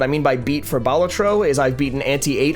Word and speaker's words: Balatro: I I care for the word is Latin for Jester and the emphasis is it's on the first syllable alab balatro I know